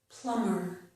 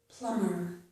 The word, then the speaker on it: plumber: And plumber, plumber. Person who fixes the pipes. We have other words too where the letter B is not pronounced.